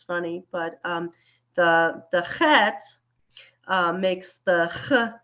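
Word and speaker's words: חית: as an H, but it is very wrong to pronounce it as an H. It is not an H. The hey is the H sound, the breath sound. The chet is a very throaty, very non-English sound.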